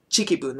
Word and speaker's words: Chikibun: Like, actually, I like Chikibun, which is spelled as Tiki, but it's there is no T sound in Japanese. It's Ta Chi Tsu Te To. So, Chikibun is how it's pronounced.